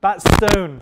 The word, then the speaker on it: Batstone: Is that how you pronounce it? Batstone. Thank you.